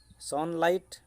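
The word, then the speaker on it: sunlight: सनलाइट को पढ़ला बेले सनलाइट को लेटरटा आसुना। सनलाइट पढ़ला बेले जीएचटा आसुना।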